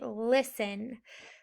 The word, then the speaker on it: listen: little bit is sin now this t doesn't really say anything right listen listen i like to